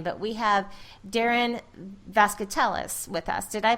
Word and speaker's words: Vazquetelles: this gentleman's last name but we have Darren vasc Tellis with us did I pronounce that correctly that is perfect you couldn't